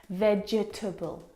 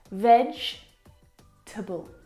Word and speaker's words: vegetable: is a challenge because it looks like there should be four syllables in this word vegetable but there's not there are three syllables vegetable can you see the